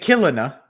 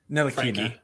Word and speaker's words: Ntilikina: Luka, Reggie Bullock, Nick Killina. How do you say his name? Ntilikina. Frankie. Ntilikina.